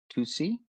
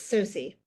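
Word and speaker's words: Tsosie: Crystal Tusi. Did I do okay on that, Crystal? The T is silent, so it's Susi.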